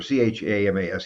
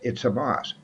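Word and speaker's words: חמס: Believe it or not, Hamas or Chamas, either way it's spelled. It's Hamas.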